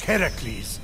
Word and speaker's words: Heracles: So, Phoenix, after boldly besting the Gorgon that ambushed Heracles...